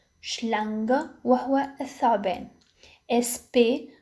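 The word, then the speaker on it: Schlange: إس سي ها تنطق ش مثل كلمة شلانغ شلانغ وهو الثعبان.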